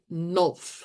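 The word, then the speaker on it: Nolf: going to do this his name was nul okay like golf but with an n n u l pH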